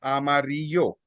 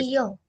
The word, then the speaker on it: amarillo: Now here you can see the usage of this letter, the double L letter that I told you in the alphabet. So this gives you the voice of yeah. So the name for the color yellow is amarillo.